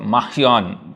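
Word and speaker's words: Marion: Yeah, it's not R, it's R is pronounced as like ख, र और ख के बीच का Mahion, तो ऐसे होता है।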